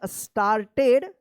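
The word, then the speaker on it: started: puppy, HAPPILY happily, START, देखिए यहां पे ED है तो एक के बाद आर है, तो एक के बाद जब आर रहता है तो आ उच्चारण होता है, क्या पढ़ेंगे, स्टार्टेड, WAGGING waging, waging, it's, ITS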